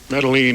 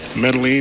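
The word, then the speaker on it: Medellín: We have been told that the Medellin, would that be the correct pronunciation? Medellin.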